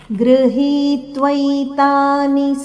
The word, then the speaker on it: ಗೃಹೀತ್ವೈತಾನಿ: ಮುಂದೆ ಗೃಹೀತ್ವೈತಾನಿ ಸಂಯಾತಿ, ಗೃಹೀತ್ವೈತಾನಿ, ಗೃಹೀತ್ವೈತಾನಿ, ಹಿ ಮೇಲೆ ಆಘಾತ ಇದೆ.